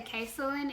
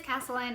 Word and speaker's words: Kasalyn: like to this day, people say Kasalyn is what I get 99% of the times. I have got like some that doesn't even, or is not even remotely close to how you say my name, but it is Kasalyn.